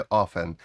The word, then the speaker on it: often: often скажете How often замість often вимовите ofen і така і така вимова сприйнятна у американській і англійській мові прислівника adverb коли відповідає